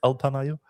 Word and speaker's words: Alpamayo: Alpamayo? I guess so. It's like alpaca and mayonnaise together.